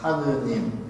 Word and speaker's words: 하느님: 발 아이가 힘이 들죠 하늘 리만 늘의 리을 발음 때에 힘이 드니까 리을 빼고 그냥 하느님 하느님 하느님이 됩니다 예를 들어서 똑같은 이유가